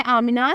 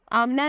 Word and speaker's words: AMINA: नाम है आमिना, स्पेलिंग है AMINA। आमिना नाम की मानी है पीस यानी अमन।